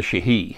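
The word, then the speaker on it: Sidhe: I took out a couple little typos, and I added a chapter on what we call the Shihi, S-I-D-H-E is how it's spelled, and I think it's Gaelic.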